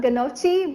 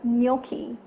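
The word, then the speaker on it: gnocchi: from its Spelling's remember it's not Ghannouchi but no key I hope you remember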